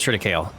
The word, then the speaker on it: triticale: Triticale. We're gonna go with triticale. That seems to be the English, the American English phonetic way of saying it, in my opinion.